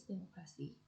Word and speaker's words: democracy: Base democracy, primary stress on muck.